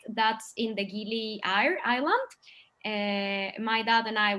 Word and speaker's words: Gili Air: We went to one called Gili Air, and it's actually pronounced like air, which means water in Indonesian.